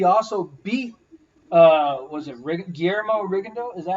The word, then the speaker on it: Rigondeaux: And he also beat, was it Guillermo Rigondeaux? Is that how you say his name? Yeah, Rigondeaux.